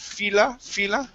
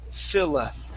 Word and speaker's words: Philadelphia: Give me a short I at the beginning. Instead of fila, it's Philadelphia. Philadelphia.